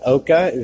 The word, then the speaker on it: Oca: Oca, am I saying that right? Yes, sir. OCA.